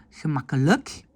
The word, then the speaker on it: gemakkelijk: Attention, quand le IJ est en fin de mot, on le prononce comme E, comme dans le mot le. Donc, on ne dit pas moeilijk, mais on dit moeilijk, gemakkelijk, dikwijls.